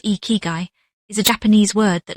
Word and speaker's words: ikigai: Ikigai, pronounced ee-kee-guy, is a Japanese word that loosely translates to a reason for being, but that translation honestly does not do it justice.